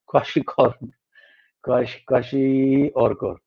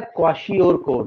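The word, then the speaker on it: kwashiorkor: नो, इट वाज not meant for हिम, इट was meant for काशी और कोर. Okay, Akshita, इस word का pronunciation होता है क्वाशी और कोर.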